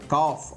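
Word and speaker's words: calf: க்கு அடுத்து l வந்திருக்கு அதைய கால் சொல்லக்கூடாது காஃப் அப்படின்னு தான் சொல்லணும் ஏன்னா இந்த இடத்துல எல் சைலென்ட்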